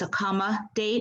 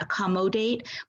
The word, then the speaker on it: accommodate: this syllable of accommodate this is really a schwa so it's a comma date it's not a common date but if this were